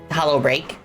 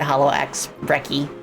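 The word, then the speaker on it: HoloXBreak: It's it's spelled hollow x break, but uh according to the to to the developer, the ax is silent. So I I like how everybody like just immediately defied that and just like called it hollow ax wrecky.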